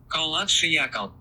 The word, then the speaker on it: Kholat Syakhl: - Kholat Syakhl. - Kholat Syakhl.